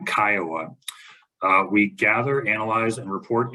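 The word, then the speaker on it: CCIOA: interest ownership act uh commonly pronounced by its initials uh Kiowa We Gather analyze and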